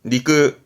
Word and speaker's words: 肉: 고기 육자 음이 한자는 많이 봤을 거요 고기 발음은 니끄 니끄 렇게 쓰면 그렇죠 돈이라면 돼지 고이지 따니